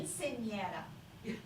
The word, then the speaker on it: Quinceañera: It's actually kind of like a Sweet 16 party, only it's for 15 years old, and it's big in quinceañera.